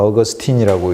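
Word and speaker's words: Augustine: 그래서 아우를 영어로 하면 발음이 나니까 어거스틴이라고 이제 하고, 원래 라틴어식으로 하면 아우구스티누스.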